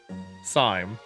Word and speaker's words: Sime: It's siy in case you're wondering. Easy to remember. Rhymes with rhyme. Sime.